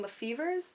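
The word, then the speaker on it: LaFevers: picked up this book grave mercy by robin lefevers that's how you pronounce it um i saw it and i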